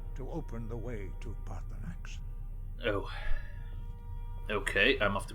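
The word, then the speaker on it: Paarthurnax: open the way to parthenox oh okay i'm off to go meet the boss i'm guessing the boss is that voice we just heard because that sounded like a dragon it's pronounced parkour max is that when you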